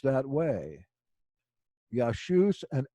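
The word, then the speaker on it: Ἰησοῦς: it correctly as Paul did it would be pronounced yah shoes it's these people that haven't studied Greek that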